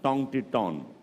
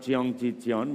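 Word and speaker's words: 청계천: And that word down there is for some reason pronounced Tong Ti Ton. It's not Cheong Chi Cheon, but it's, the idea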